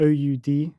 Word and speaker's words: oud: It's spelled OUD. In Arabic, it's oud.